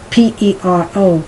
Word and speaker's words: pero: In the beginning, when you're trying to pronounce P-E-R-O, pero, no problem.